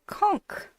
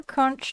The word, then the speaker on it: conch: If you are interested in playing a new instrument, they have a conch or kunch, depending on how you want to pronounce that.